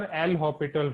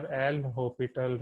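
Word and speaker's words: L'Hôpital: So this is your L'Hopital rule, right? This is your L'Hopital rule. In spelling, we are writing hospital, but S is silent over here.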